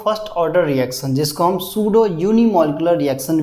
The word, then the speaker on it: सूडो: order reaction जिसको हम सूडो uni molecular reaction भी कहते हैं सूडो वर्ड का ही मतलब क्या होता है सूडो वर्ड का ही मतलब हमारे पास क्या होता है फाल्स सूडो पी साइलेंट होता है इसमें सूडो वर्ड